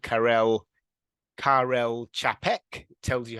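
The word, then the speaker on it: Karel Čapek: a writer from the Czech Republic called Carell Carell chapek tells you how to pronounce it as well um and and most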